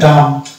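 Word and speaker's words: dumb: Next word আছে ডাম, তাহলে এটা সিবিসি অনুসারে আকার ধরলাম। আর লাস্ট এম হচ্ছে উচ্চারণ হবে এবং বি উচ্চারণ হবে না। তো ডিয়ার ভিউয়ার্স, আমরা দেখতে পেলাম বম, কম, ক্লিন, অ্যাপ্লম, কোলাম, থাম, ডাম।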